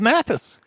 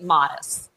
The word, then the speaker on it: Matus: We pronounce it Modest.